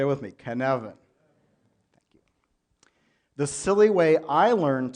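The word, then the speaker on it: Cynefin: the canon framework kevin is a Welsh word with a very Welsh pronunciation can Evan everyone say it with me can Aven the Cyn is not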